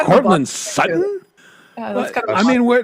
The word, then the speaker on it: Sutton: It's just I young men, young women, they don't pronounce T's. And so, like, there's there's a a player here in Denver. His name is Courtland Sutton. Okay. S U T O N. Sutton.